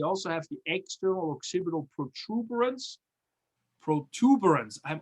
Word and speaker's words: protuberance: And then we also have the external occipital protuberance. Protuberance, I'm always saying it wrong. I actually wrote it wrong for a long time. Not protuberance, is protuberance. And that's the, if you